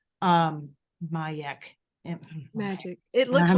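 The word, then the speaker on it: Magec: Magic. Mayek. Magic. It looks I'm like getting magic when I wrote it. Yeah, it's M-A-G-E-C, but pronounced Mayek.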